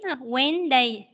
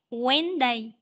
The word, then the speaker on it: Wednesday: tuổi con lưu ý cho cô là sẽ đọc là quán Wednesday Wednesday nhiều bạn có nghe động web nhiều bạn có nghe đọc lực web đây nhưng mà không chưa Đúng rồi Con đầu là quán Wednesday Wednesday có một cái âm âm xì Wednesday